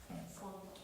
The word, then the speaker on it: font: Il font. Exactement. On prononce pas le T.